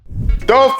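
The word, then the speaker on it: daube: welcome to fiban Cuisine let's get cooking Dove pork this is a old school Caribbean favorite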